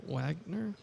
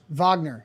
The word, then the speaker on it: Wagner: Uh Wagner Vagner. It's No, it's Vagner. That's how it's Morris Vagner.